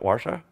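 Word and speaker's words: Warszawa: so that Warsaw ba-ba-ba-ba how do you pronounce Warsaw Bosch Pasha yeah what washa washa butter sell ok cool so that's how we pronounce it Warsaw I don't know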